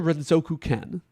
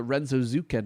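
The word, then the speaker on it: Renzokuken: I don't really know how I always called it Renzo Zuken as a kid because I'm uneducated.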